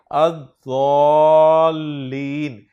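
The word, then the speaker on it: الضالين: इस लफ्ज पर जब अलिफ लाम दाखिल होगा तो लाम को नहीं पढ़ेंगे, अद-दालीन, इसके माना गुमराह के होते हैं।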